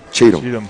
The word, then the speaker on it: Cheatham: Then we had Jashawn Chatham. Chatham, did I pronounce that right? Cheatham. I always get his name wrong.